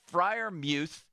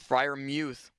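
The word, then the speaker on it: Freiermuth: during the broadcast that frier Muth told them during the week that that's how you pronounce his name frier Muth Fri Muth to which to which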